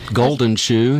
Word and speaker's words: Guldenschuh: page well it's just under my name golden shoe it's pretty simple uh g-g-u-l-d-e-n-s-c-h-u-h not a bad